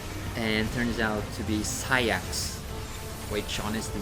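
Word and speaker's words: Saïx: eventually play Final Mix and heard the English pronunciation, I forgot. And turns out to be Sayax, which honestly sounds weird. But that's the actual pronunciation of his name. I'm sorry. I kept saying Saix. It's actually Sayax.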